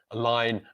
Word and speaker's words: align: And that is because the stressed syllable is on the second syllable. So the pronunciation of the letter A in each of these words is which is the schwa sound, in the word apple,